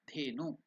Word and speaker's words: Dhenu: Dhenu. Again, how to pronounce that? Dhe. It is not they. It is The. Mahaprana.